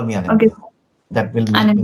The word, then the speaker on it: Anindya: Anindya. That will make me. Anand, okay.